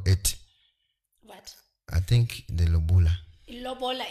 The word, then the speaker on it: lobola: Osei, how do you spell it? What? I think the lobola.